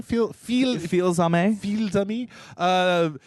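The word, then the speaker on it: Fils-Aimé: How do you say his name? Feel-Zame.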